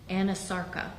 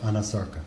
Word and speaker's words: anasarca: examiner, did she have a condition known as anasarca? If I'm She not did. mispronouncing it. No, you're pronouncing it correctly. She did have a condition called anasarca.